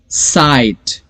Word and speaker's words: sight: साइट, SIGHT, साइट. सो S को pronounce करेंगे, IGH में सिर्फ I का प्रोनाउंसिएशन आएगा और लास्ट में T, लेकिन लिखा पूरा वर्ड जाएगा. सो देखिए ये जो लॉन्ग